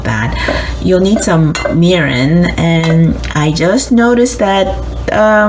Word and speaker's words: mirin: You'll need some mirin, and I just noticed that the English spelling is missing.